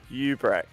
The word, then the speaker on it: Hubrex: So, Let's say we get our dominating race 1 and 2 winner in here, Hubrex. Alex? Ubrex. We've got it right. Hey, you pronounced it correctly.